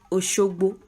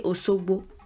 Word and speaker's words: Osogbo: Like if they want to say Oshogbo, and even Oshogbo natives speak like that. Many people, they just don't say Shi, they say Osogbo.